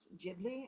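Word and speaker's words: Ghibli: We just played two weeks ago, we played a concert of of music from there's a Japanese film studio, Jibli, I believe it's pronounced, and it was beautiful music.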